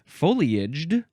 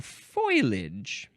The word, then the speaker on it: foliage: The pronunciation foilage is disapproved because it suggests the transposition of the L and I in the spelling.